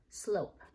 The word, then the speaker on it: slope: S-O-O-P, slope. If I marked it up, it should have looked like this. S-L blend, long vowel O, silent E, vowel consonant E syllable.